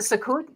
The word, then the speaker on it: Sukkot: Oh, is that how you pronounce it? Sukkot?